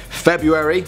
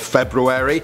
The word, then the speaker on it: February: When I was looking at words for this one, I realized I've been saying February instead of February, and also etc.